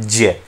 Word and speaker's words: ज्ञ: देखिए, इस ज्ञ वर्ण का उच्चारण हम करते हैं ज्ञ, इस तरह से हम इसका उच्चारण करते हैं, लेकिन भाषा विज्ञान की दृष्टि में इस उच्चारण को गलत मानते हैं। मैं इसका उच्चारण कर तो ऐसे रहा हूं, लेकिन जब भाषा विज्ञान की आप बात करते हैं तो भाषा विज्ञान के अनुसार इसका जो उच्चारण होता है वो होता है जय।